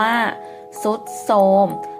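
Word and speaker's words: ทรุดโทรม: มอ โทรม ทรุด โทรม สังเกต ไหม คะ มี ท. ทหาร กับ รอ เรือ เป็น ตัว พยัญชนะ ต้น เหมือน กัน แต่ ออก เสียง ซอ เช่น กัน นะ คะ ตัว ต่อ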